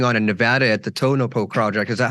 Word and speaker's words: Tonopah: in what's going on in Nevada at the tonopo project is that how you say it yeah Tonopah so that's another one of these famous Wild